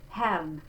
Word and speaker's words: Herrn: So it's the open E, Herrn, same thing. And I'm just going to flip that R, Herrn, but it's quick.